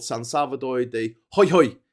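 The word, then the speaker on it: Jujuy: And it's called San Salvador de Ho hoy. It's pronounced ho hoy. Not not not juoy joy.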